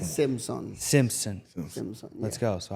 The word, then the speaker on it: Simson: I didn't have to do much, but we've got today's special guest, Simmons, right? Simpson. Simpson. Yeah. Let's go. So I'm not the best speller. No, pronouncer.